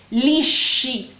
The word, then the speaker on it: lisci: Bueno, lo puedes tener liso, se dice i capelli lisci, por ejemplo, o i capelli lisci, lisci, intenta pronunciar la SC, lo sé que es difícil para ti, o i capelli lisci, muy bien.